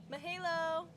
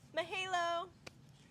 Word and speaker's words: mahalo: Mahalo.